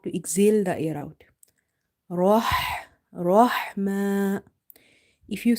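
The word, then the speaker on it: رحمة: So try to pronounce it from the middle of the throat. Here Rahma, Rahma.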